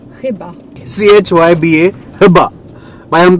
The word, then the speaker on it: chyba: So for example, when you have a word, let's say, which is called maybe, so that's in Polish CHYBA, so we pronounce it chyba.